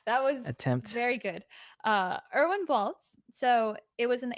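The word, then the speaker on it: Erwin Bälz: I guess how would you pronounce it with Irvin? Irvin. Irvin Baltz. Irvin. That's not German. My German That was attempt. very good. Erwin Baltz.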